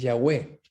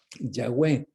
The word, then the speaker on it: Yahweh: Algunos creen que es Yahweh. Es la forma de pronunciar, la I, la H, la W, Yahweh.